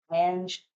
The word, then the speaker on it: Anj: Her first name sounds Indian to me, but it's spelled as ANJ. Ange C.